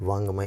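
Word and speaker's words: वाङ्मय: वा नहीं होगा, बा नहीं होगा, वा होगा, और ये आधा अंगा होगा। वांग, ये वांग फिर मय, ठीक है, और ये जो गा है ये नहीं होगा क्योंकि ये आधा अंगा ही का प्रोनाउंस आता है। तो सही शब्द है वांग्मय, इस तरीके से लिखते हैं।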